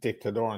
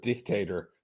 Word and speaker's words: Dictador: like I'm impressed that Timmy's finally saying dictador instead of dictator.